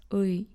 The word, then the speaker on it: 의: La dernière lettre se prononce différemment selon sa position dans un mot.